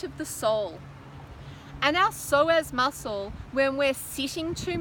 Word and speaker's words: psoas: It's called the psoas muscle. That's spelled P-S-O-A-S, the psoas or psoas.